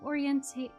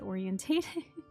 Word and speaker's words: oriented: Probably won't be an issue to ask for a moment to get myself oriented. I almost said orientated. That's not how you say it.